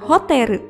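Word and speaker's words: ホテル: Hotel dalam bahasa Jepang adalah hoteru.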